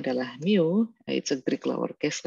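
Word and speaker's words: μ: kecil eh ini ada keterangannya ya bingung ini bacanya adalah Mio itu trik lowercase letter of you represent the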